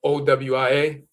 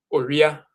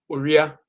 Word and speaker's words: owia: The way it's pronounced is Oria, Oria. If you hear an Akan person say it, they won't say Owia, they'll say Oria.